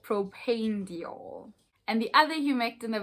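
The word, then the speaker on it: propanediol: my other videos i've been saying it as proper nadal i am so sorry you guys know that i butcher the skin care ingredients on this video but we learn and we grow and that's all that matters so it is called propane diol and the other humectant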